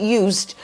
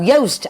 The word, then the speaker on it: Joost: Contact Young Learning, the lovely Joost, and I remember how to pronounce it because you wrote it Joost or Juiced, but it's no, Joost as in toast.